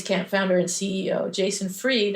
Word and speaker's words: Fried: founder and CEO Jason freed I think it's freed not fried but it's spelled like fried anyway Jason posted on his